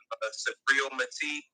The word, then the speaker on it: Subriel Matias: Like y'all put me on like Subriel Matias. Is that his name? Is that how you pronounce it?